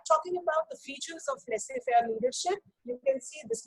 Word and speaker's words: laissez-faire: The third style of leadership is laissez-faire. This is how we pronounce children, laissez-faire or free-rein leader.